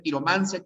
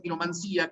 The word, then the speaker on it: quiromancia: Puede ser quiromancia, quiromancía, cartomancia o cartomancía, nigromancia o nigromancía, pero se prefiere la terminación sin tilde, ¿no? Quiromancia, cartomancia, que es como pronunciamos nosotros.